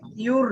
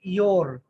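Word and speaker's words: your: ইউর না, ওটা উচ্চারণ হচ্ছে ইয়োর। ইয়োর, হ্যাঁ, ইউ থেকে ইয়োর।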